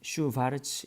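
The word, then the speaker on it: Schwarz: 그래서 여기 보시면은 슈바르츠 이게 W가 V 발음 나는 건 다시 독일 사람이에요. 혹은 이제 아인슈타인 이것처럼 EI가 아인슈타인.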